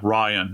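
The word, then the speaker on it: Rion: Ryan is how it's pronounced.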